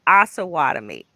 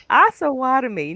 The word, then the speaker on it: Osawatomie: I say Osawatomie. Osawatomie. Now, Yep. is that right, Kristen? Is it Osawatomie? It depends. It Okay. can also be pronounced Osawatomie. So the way that I tell people is Osawatomie, but there are a lot of um, locals that do say Osawatomie.